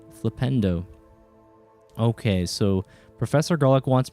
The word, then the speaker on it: Flipendo: Flipendo like Nintendo. Flipendo.